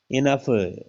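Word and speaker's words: enough: इनफ, ओ silent है, ओ यू है ना साथ में, तो ओ यू व ईओ होने पर ई साइलेंट ओ साइलेंट होता है, सॉरी।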